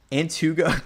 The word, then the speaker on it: Antigo: Antugo.